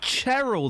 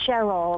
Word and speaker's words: Cheryl: You probably pronounce it Cheryl then, don't you? Absolutely not. It's Cheryl.